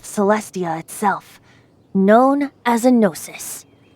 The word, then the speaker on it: gnosis: So, what's a Genosis? So you noticed. Gnosis. The G is silent, because This isn't fuck something the I'm meant English to language.